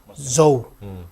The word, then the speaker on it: Zo: At that time, under the leadership of the Mizoram Coordinating Committee of all NGOs, they form Zo United, Z-O, Zo. It is pronounced as Zo.